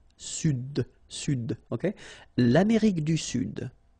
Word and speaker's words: Sud: L'Amérique du Sud, here you should pronounce the D. Sud, sud, okay?